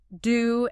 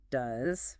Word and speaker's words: do: Do should rhyme with the letter U or the word you, not do like a female deer.